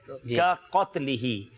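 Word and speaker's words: كقتله: छोटा काफ और उसके फौरन बाद बड़ा काफ है। का क़त्लिही यानी मुसलमान पर लानत करना उसे कत्ल करने के बराबर है।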